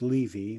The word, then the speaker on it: Levy: um first of all the name is pronounced leavy with a long e not important uh i